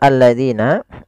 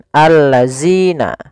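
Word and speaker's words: الَّذِينَ: Kemudian hati-hati pada lafal alladzina, jangan sampai kita membacanya zina misalkan allazina. Nah, ini kurang tepat atau salah. Kenapa? Karena dia merubah huruf antara huruf zal diganti dengan huruf zai.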